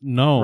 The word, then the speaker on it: gnome: say it right so like like gnome versus gnome right i feel like so many people have just adopted the fact that it's known right that even if